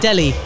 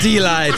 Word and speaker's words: D'Eli: And you pronounce it Delhi. No, you pronounce it D'Eli.